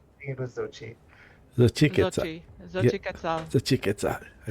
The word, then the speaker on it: Xochiquetzal: I will raise my hand and I will call the name of my goddess, Xochiquetzal. Or am I saying this wrong? Xochiquetzal? Was the first time right? It was so cheap. Xochiquetzal.